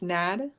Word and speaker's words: Nad: How do you say your name? It's Nad.